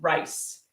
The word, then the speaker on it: rice: rise raise rice and rice the food is got a a shorter sound rice so it's rise raise